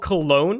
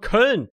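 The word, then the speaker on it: Köln: munchen it's not called cologne it's called kern where is it it's not called colognes called kern you know you don't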